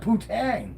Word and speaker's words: poutine: It's not a tang. It's poutine. Poutine? Drop like your... Poutine? It's supposed to be Poutine. Yeah, Poutine, by the way. It's spelled. That's just the spelling. That's not how it's pronounced.